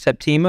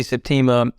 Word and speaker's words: Septima: it's incredibly insightful and I don't know exactly how to pronounce your name is it is it Septima is that how you pronounce it yes okay what I what I would say Septima um is that where